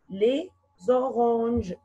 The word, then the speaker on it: les oranges: What is the silent letter here? S. Bravo. S is silent letter. And if we make this mark, it means you pronounce the two words as one word.